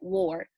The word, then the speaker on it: Worre: GoPro by Eric Ward. That book will literally blow your mind, okay? Blow your mind. His last name is spelled Worre, Eric Ward.